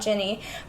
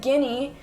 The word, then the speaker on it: Ginny: So I said Guinea, because I've always just read it. I never said it out loud.